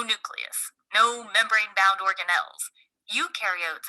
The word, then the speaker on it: eukaryote: Eukaryotes, on the other hand, remember eu rhymes with do, and they do have a nucleus and other membrane bound organelles.